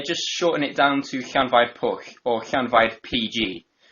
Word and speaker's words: Llanfair: Okay, double L is pronounced like you're hissing like a cat. Okay. Yeah. And then A-N, so Llan. Can. Yeah, and then Five. Can. fire with Fire. Can fire. Llanfair. And roll your R's if you can.